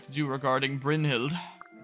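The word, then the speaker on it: Brynhildr: like to do regarding Brin hild I think that's how it's pronounced right I always us to say like Brin Hilder but I don't think that you say the r yes I have but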